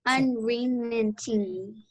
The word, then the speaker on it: unremitting: Unremitting. Close. It's re. So unremit. Unremitting. Yeah, unremitting.